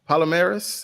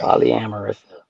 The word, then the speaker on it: polyamorous: is it uh uh polymerase is that how you say it yeah polyamorous polyamorous thank you yeah Hills High School